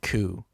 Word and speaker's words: coup: And when you think of what Napoleon does in this chapter 5, it is the definition of a coup. And the P is silent there.